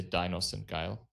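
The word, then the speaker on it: Dinos sind geil: You pronounce in German. You pronounce Dinossindgeil. You can also say Dinossindgeil. It doesn't matter, and it means that dinos means dinosaurs.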